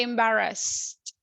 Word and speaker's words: embarrassed: If you see, the last sound is no vibration. So we say embarrassed, no embarrassed.